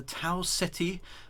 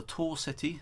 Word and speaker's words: Tau Ceti: And Gilmore Orbiter is, of course, around the habitable world in the Tau Ceti, or the Tor Ceti, depending on how you pronounce it, star system.